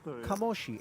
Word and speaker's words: Kamoshi: one Claudio De Marzo, who says it is indeed pronounced Kamoshi.